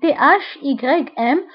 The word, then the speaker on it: thym: فانتبهوا بالنسبة للثym يكتب ب THYM وينطق ب thym le thym، وهذا النبات الذي يظهر في الصورة.